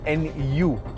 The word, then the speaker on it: Nu: is uh called the new engine or the Nu that's how it's spelled and it's an all new engine of